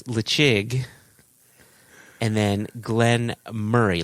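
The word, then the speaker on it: Glen Moray: So it's Lechig, and then Glenn Murray. Like, think of your best friend Murray, or Jason, in your case, your brother Murray.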